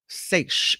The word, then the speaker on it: seiche: Seiche is the way you pronounce it.